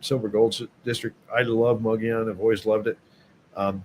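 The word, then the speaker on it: Mogollon: One's called Mugion, which is uh it doesn't look like it's spelled that way, but it's Mugian is how you say it.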